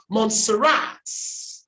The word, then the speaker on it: Montserrat: Aha, the primary stress is on the last syllable. Montserrat.